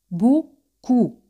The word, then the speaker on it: beaucoup: Mucho en francés es beaucoup, beaucoup. A y U se pronuncia como O española y O y U se pronuncia como U española.